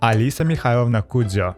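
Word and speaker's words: Alisa Mikhailovna: the cat by the balls let's start meet Alisa mnao and yes that's how her name is pronounced a little language lesson from a native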